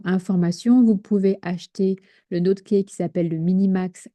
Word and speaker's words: NodeK: Voilà, ça se prononce comme ça, NoteKey.